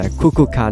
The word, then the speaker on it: Kukulkan: 你 call him Kukulkan。唔该晒，肥佬。系啦，个读音就系 Kukulkan 啦。